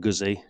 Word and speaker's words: Guzzi: Moto Guzzi Le Mans should really be pronounced Moto Guzzi, because a ZZ in Italian is a T, a bit like pizza. But because I'm lazy, I'll probably carry on saying Guzzi.